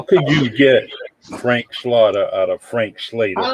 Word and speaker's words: Slaughter: Ramos, and my guest, my honorable guest, Frank Slaughter. See, I know how to pronounce his last name, unlike somebody else on this podcast that's having problems and difficulties and want to call you Slater.